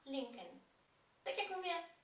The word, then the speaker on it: Lincoln: że warto wiedzieć iż po angielsku wcale nie wymawiam tego nazwiska jako Lincoln zarówno markę samochodów która tak się nazywa jak i nazwisko tego prezydenta wymawiamy l l tego drugiego l w ogóle tam nie ma linken tak jak mówię W